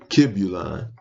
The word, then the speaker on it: Kybalion: And the books he wrote were the Kybalion. Some people pronounce it Kibulon.